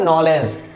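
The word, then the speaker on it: knowledge: है silent, for example नॉलेज, नॉलेज, जी से पहले डी आ रहा है इसलिए क्या हो गया, ये साइलेंट हो गया, और ये हो गया नॉलेज।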